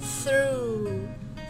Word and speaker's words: through: Thì khi đọc âm này các bạn lưỡi đặt giữa hai răng, xong rồi đẩy cái hơi ra. Các bạn nào không biết đọc thì hít một hơi vào, xong thở ra. Đó, xong rồi đọc âm R, cong lưỡi vào.